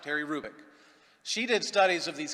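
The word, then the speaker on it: Hrubec: you h-r-u-b-e-c terry krubik the h is not pronounced terry rubick she did studies of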